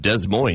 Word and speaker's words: Des Moines: And unless there's a teacher saying, no, it's pronounced Des Moines.